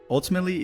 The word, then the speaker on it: ultimately: there both being reduced ultimately is another one of those words like similar to average you'll often say it by reducing the syllables so in